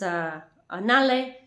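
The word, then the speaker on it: நான்கு: They're written one way and you pronounce them differently, like onre, one, you pronounce una, irnde, rende, munre, mune, nanke, you pronounce nale, and 5 you pronounce, I think it's pronounced in Tamil, aind, and you pronounce it anji.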